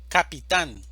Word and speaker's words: capitán: Capitán, división silábica, capitán, sílaba tónica, tan, capitán.